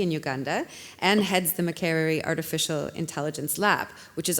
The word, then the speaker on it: Makerere: Can you also pronounce the university for me in Uganda? Makerere.